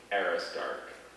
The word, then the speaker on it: aristarch: and buy a guitar are there any alternate pronunciations just the one aristark aristark aerostar era stark a r i s